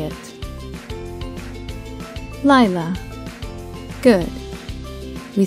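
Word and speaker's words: לילה: The third and final Hebrew word that we have for you today is Laila, and it means night in Hebrew. Now you try and say it. Laila.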